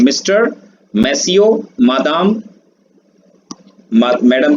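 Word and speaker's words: Madame: और मैडम के लिए जो वर्ड है वो है मादाम, और इसका प्रोनाउंसिएशन होता है मादाम।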